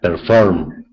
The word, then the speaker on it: perform: Humid, and perform. Okay, where's the syllable stress? Humid. In the humid is the first syllables, is the stress. Okay. And perform is the second syllables.